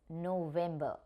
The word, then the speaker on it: November: In this particular word, November, V is taking V sound only. It's not f, it is V.